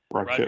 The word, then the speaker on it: Raquel: Raquel. Rodriguez. Yeah. I just want to make sure I pronounce the first name right.